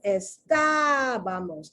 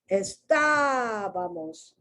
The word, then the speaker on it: estábamos: If you see how I'm pronouncing estábamos, I'm not pronouncing it estábamos. See, this is how you figure out accents.